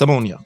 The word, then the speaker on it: Omonia: What's their actual name? It might be ammonia. Is it ammonia? Yeah. But maybe it's the way we pronounce it. So the way I'm pronouncing it. Look, let me. Yeah, ammonia. It's ammonia.